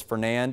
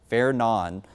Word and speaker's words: Fernand: So, I know it says Fernand and that's how it looks like it's pronounced, but the official pronunciation is going to be Fair Nan.